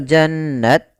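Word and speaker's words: جَنَّاتٍ: jannatin tajri pada lafal jannat kembali ada Nun bertahrukat tasydid maka dinamakan dengan bacaan ghunah cara membacanya menahan suara nunnya Janna Janna Nah baru dibaca nanya pada lafalna ada hukum tajwid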